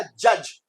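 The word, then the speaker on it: judge: तो ये D silent रहेगा, तो ये हो गया जज।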